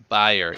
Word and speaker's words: Bayer: guys say it like buyer correct like an e sound buyer Bayer we use the a in the middle it's buyer yeah we I only